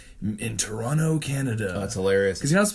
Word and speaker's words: Toronto: Bill Hader says in Toronto Canada that's hilarious because that second T is silent but everyone's a person